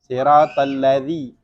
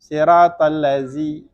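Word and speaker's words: الذين: Siratal ladzi, nggak bisa didesisin memang, makhrajnya lain. Kalau zai, siratal lazi, karena bedanya za sama zai kan itu, zai lebih tebal, za enggak, lebih tipis dibacanya.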